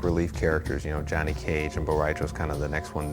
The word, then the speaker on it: Rai Cho: The Spanish word for drunk is borracho, and figured that word kind of broke itself up nicely into 3 Asian-sounding kind of syllables. So Rai Cho equals borracho, and hopefully some of you guys got that.